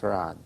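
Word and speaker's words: Fard: F-A-R-D is spelled, but pronounced Farad.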